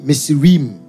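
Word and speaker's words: Mitsrayim: museum it's meets sri misurim the hebrew people pronounce it like is m-i-t-s-r-a-y-i-m it's like they they'll always say neem messer or raymond the phonetic is like that mates it means double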